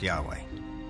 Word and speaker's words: Yahweh: knew God by his intimate personal name conventionally pronounced Yahweh passages with the name Yahweh which in German is spelled with a j